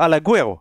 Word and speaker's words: Alaguero: monde dit Alaguero, mais Ouais, non, c'est juste Alaguero, Alaguero. En fait. Alaguero. Mais Il en y a fait, pas de- c'est le U, tu vois, le U, on Mais a oui. tendance à vouloir dire Alaguero.